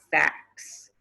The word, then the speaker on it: facts: word fact okay but if you put an s at the end you get facts facts you hear how that t disappeared you don't hear the t sound anymore facts these are the